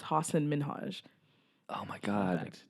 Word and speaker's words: Hasan Minhaj: to pronounce his name it's like Hasan Minhaj oh I know I always think that's not manoj because it just sounds like osama Najma it's hassan min Haj oh my god not